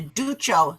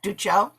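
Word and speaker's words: Duccio: vying for the commission of what's called the ducho stone and i looked up the pronunciation of that ducho d-u-c-c-i-o it was a stone that had been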